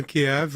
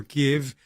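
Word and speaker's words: Kyiv: to the capital uh Kiev or give this is pronounced in Ukrainian and he made a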